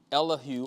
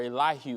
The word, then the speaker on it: Elihu: Elihu, or Elihu as some people would pronounce it, is speaking to Job